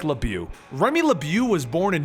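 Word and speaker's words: LeBeau: normally only in print sometimes we can't even pronounce the first names well I'm going to State it right now Remy lebu is what we will be calling him in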